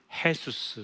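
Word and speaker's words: Jesús: 스페니시로는 헤수스 이렇게 발음을 합니다.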